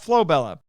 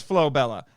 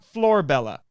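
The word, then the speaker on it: Flobella: up flo bella and it is flo bella not floor bella and she writes out the japanese for that both in kanji and in romaji which he says is pronounced like flo bella the u at the end of most syllables is usually barely voiced and as always japanese r is a mixture of english r and l so thank you very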